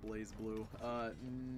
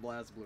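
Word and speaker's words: BlazBlue: If you ever played Blaze Blue, no. But I do love calling it Blaz Blue because it makes people upsetty.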